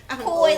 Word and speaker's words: Coi: Coy like boy.